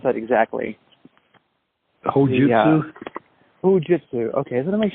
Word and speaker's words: Hojutsu: How do you pronounce that exactly? Hojutsu. Hojutsu. Okay, so let me make sure I say it right. And somehow or the other, you became the Soke, the founder of Hojutsu.